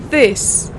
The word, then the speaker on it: this: that begins with th that's this which is a short eye and a short s this for example this isn't good enough you need to work harder this that say together this this it is not this it is this again soft fur let's